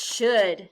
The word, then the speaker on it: should: In should, the letters S-H stand for the sound sh. The letters O-U stand for the sound and the letter L is silent.